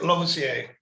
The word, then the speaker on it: Losier: Yeah, Losier.